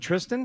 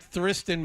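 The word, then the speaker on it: Thriston: Lawrence oh is it Tristan yeah the AG for some reason is silent like Charlie St on as Wayne M used to it looks like thristan but it's it's something else you remember crazy Wayne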